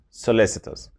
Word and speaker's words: solicitous: the soviet delegation number five solicitous solicitous it's pronounced solicitous solicitous it's an adjective a person who is